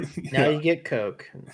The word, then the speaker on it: Koch: Um, to the Coke family. Like the Coca-Cola family? No. Coke.